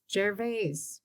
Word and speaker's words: Gervais: First of all, Gervais, Is that really how you say it? I've called it Jarvis my whole life. Jar- I think it's Jarvis. It's Jarvis and local. Local but it- vernacular. The Is, French connection.